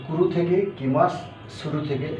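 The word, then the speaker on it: 来ます: কুরুর মাস form হচ্ছে কি মাস কি মাস এটা হচ্ছে পুরো মাছ ফল অর্থ সেম করা আসা কিমাস মানে হচ্ছে আসা এটা আমরা এখানে লিখি লিখবো কি মা কিমা কিন্তু উচ্চারণটা হবে কিমাস তো কিমাস মানেও আসা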